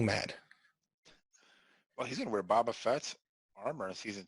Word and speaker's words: Boba Fett: it's Boba Fett.